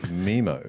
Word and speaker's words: Nemo: I've got to talk fucking cool and hip Memo, like you motherfuckers. twat. It's memo. Memo. No one says memo. Me- Finding Memo. It's the fucking... What is rhymes with happening? Nemo.